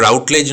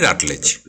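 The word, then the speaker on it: Routledge: সে রাটলেজ, RUTLEDG, ওকে, রাটলেজ, উচ্চারণটা রাউটলেজ নয়, রাটলেজ।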